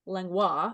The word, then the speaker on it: Langlois: And his name is Chris Langlois, otherwise pronounced Langlois if you're fancy in French.